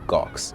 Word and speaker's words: Gawx: If I could collaborate with a digital creator, I think 9 times out of 10, I'm gonna go for the artist named Gox. It's spelled Gawx.